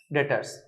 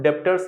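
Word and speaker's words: debtors: क्या लिख देते हैं, डेटर्स, DBTORS। ठीक है, इसमें बी साइलेंट होता है तो डेप्टर्स नहीं बोलते हैं।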